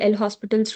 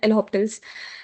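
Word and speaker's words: L'Hôpital: So they're like people call this L hospitals as L opt L optiples also L opts as like it's like that L hops. So there are different pronunciations for it but if you just go by what it's written it's L hospitals too. So I call it as L hospitals.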